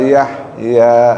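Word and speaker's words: يحيى: la yamutu fiha wala yahya. Nah, ha itu baca ha besar. Yahya bacanya ha kecil. Iya. Nah, fiha wala yahya. Yahya. Jangan jangan ditukar. Jangan fiha.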